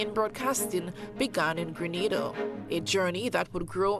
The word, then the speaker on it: Grenada: It's Grenada. It's not Granada. It's Grenada.